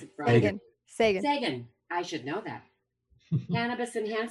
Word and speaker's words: Sagan: How do you pronounce it, Bryan? Sagan.